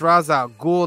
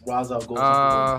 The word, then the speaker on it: Ra's al Ghul: No, some people pronounce it Ra's al Ghul. Some people say Raish. I was like, unfortunately, I think the proper is actually like that. Raish, which is terrible. It sounds way less exciting.